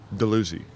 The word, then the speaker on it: Dalhousie: I'm not sure what I don't know exactly what town I'm in or how do you pronounce it? Port Dalhousie. Dalhousie.